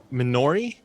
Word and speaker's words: Minori: council of wisdom um minori is that how you want it pronounced uh yes okay well minori was